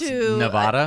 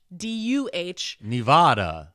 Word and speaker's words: Nevada: Kind of the same way I pronounce Nevada.